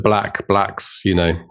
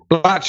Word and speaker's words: Blatch: I was called Mr. Blatch with a P at the weekend, which is not uncommon. But yeah, Mr. Blacks, Blatch is exactly correct.